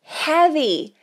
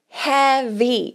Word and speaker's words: heavy: Mas o H seguido de vogal tem esse som de o rato roeu a roupa do rei de Roma.